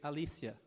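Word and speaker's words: ἀλήθεια: A palavra que João utilizou no grego foi Alícia, que se fala alícia em grego, mas se escreve aleteia.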